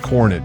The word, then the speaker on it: Coronet: The 1967 Dodge Coronet 440, pronounced Coronet, dressed in bold blue and powered by a freshly rebuilt drivetrain that's all about street cruising satisfaction.